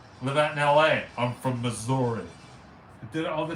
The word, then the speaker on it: Missouri: it pittsburgh buddy no people do call up misery though say lumo i'm from saint louis missouri missouri there you go i